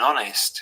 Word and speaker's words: honest: a vowel so with silent h we would say an honest and with pronounced h we would say a hotel but some posher speakers